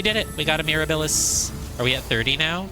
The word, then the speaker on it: Mirabilis: I think it gets fancy. It's like a silent S. It's Mirabilis. Mirabilis. It's actually pronounced Mirabilis.